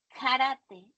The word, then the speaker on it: karate: La primera palabra que tenemos es karate. Karate se pronuncia igual que en el español, solo hay karate, ¿ok?